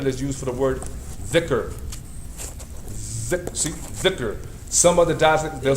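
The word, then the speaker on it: ذكر: So instead of saying like some people, this dhal is the same letter that's used for the word dhikr. Dhikr. Some other dialects they'll say zikr.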